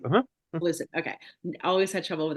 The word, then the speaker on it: Seleucid: just fighting you can help me with the pronunciation here, Seleucid Empire. Seleucid. Uh-huh. Seleucid.